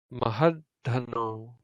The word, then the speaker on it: Mahadhanno: So the vowel remains short, but you pause because this is a long syllable. Had, dhanno, dhanno, mahadhanno. That's how you would say that word. Mahadhanno. Stress also goes on the had, and we'll learn why that is next week.